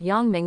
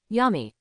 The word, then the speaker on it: Yongming: Peter Parker glanced back at Yongming and greeted him listlessly. "Hi, I'm Peter Parker." "Hi, my name is Ming." "Nice to meet you, Yummy." Yongming. The crooked pronunciation is really.